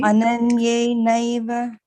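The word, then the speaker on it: अनन्येनैव: Ananyenaiva. Yeah, you see, all the time you were pronouncing this as ananne. This is not ne, this is why.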